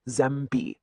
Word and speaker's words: zęby: So again, think French, like the on in sunk. That means zęby, or teeth, is pronounced zęby.